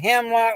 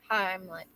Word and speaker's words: Heimlich: CPR, including the hemlock on yourself. Yes. Heimlich. Yeah, I have pronunciation problems.